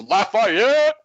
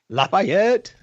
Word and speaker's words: Lafayette: It's Lafayette. Lafayette.